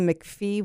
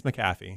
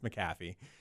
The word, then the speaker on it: McAfee: There was a McPhee one or something like that. It's McAfee. McAfee. It's hard to pronounce.